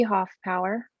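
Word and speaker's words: Hoffpauer: it in the record my name is hoff power my last name is spelled h o h-o-f-f-p-a-u-e-r i'm one of 11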